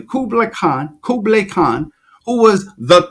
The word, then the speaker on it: Kublai Khan: it's so deep I read that Kubler Kublai Kublai Khan you have to pronounce his name correctly Kublai Khan Kublai Khan who was the Khan the Khan